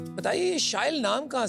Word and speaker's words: Shyle: So as you just said, it rhymes with style।